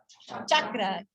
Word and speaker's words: chakra: remember, but just some common ones you'll see mispronounced. So our first one is, how do we say it? Asana. Second word, chakra, chakra.